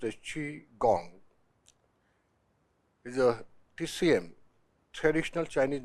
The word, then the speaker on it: Qigong: force so let's see Chong in detail chiong pronounced as chiong is a TCM traditional Chinese medicine healing practice